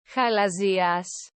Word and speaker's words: χαλαζίας: is very, very similar to the way you pronounce this word, Χαλαζίας, which is the Greek word for quartz.